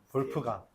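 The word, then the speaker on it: Wolfgang: 코시 코시 슈바르 슈 바르츠 이게 그 독일 애들은 W를 B라고 했잖아. 그죠? 그래서 여러분 다 알다시피 이게 누구야? 뭐라고 읽어요? 볼프강. 이래 볼프강이라고 읽죠.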